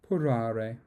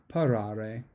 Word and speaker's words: parare: Paro, porare. I mispronounced that. Parare, to prepare.